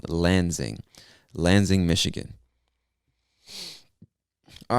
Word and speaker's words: Lansing: of michigan is lansing so that s kind of makes a z sound lansing lansing michigan all right